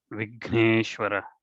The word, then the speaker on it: Vigneshwara: So there are Mahapranas like Bhuta, Bha, and then Vigneshwara. Okay, so think about this. When you pronounce, it has to come from your chest.